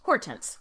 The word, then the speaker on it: Hortense: with the French pronunciate French pronunciation Hortense which is how we know her now and in France they